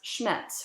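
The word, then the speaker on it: Schnetz: elizabeta it's written s-c-h-n-e-t-z-i-n so her name was schmetz her surname was here we know just because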